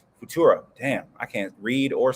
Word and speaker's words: Futura: The OG Batmobile 1955 Lincoln Futura. That's not how you say it. Futura.